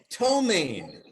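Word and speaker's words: ptomaine: happy for your excitement tomaine whoever smelled it dealt it uh homemade mm-hmm correct and you knew the silent p hello listen to that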